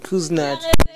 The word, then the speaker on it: Kusnitz: Am I saying it right? Nope. Kusnitz.